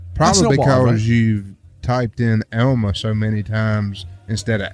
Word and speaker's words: Elma: Elmer food Elma Elmer he spells it like he pronounces it Elma well e l m a el unfortunately I'm going